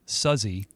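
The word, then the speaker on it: Suzzy: It's a it's a trio of sisters, Maggie and Terry, who started out as a duo and then their sister Suzy, which is how it's pronounced, joined later.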